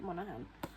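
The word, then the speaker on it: Monaghan: Goes Offcript by Annabelle Monahan. Um or Monigan, I don't know how I pronouncing the surname, but I've seen it a lot of people pronounce it Monahan.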